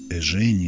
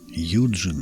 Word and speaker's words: Eugene: Насчет произношения имени Линца я знаю три варианта этого имени. Одни утверждают, что правильным будет Эжени Линц. Другой иностранный вариант – это Юджин Линц. Я в подобных случаях выбираю старый привычный вариант Евгений, и ничего плохого не вижу.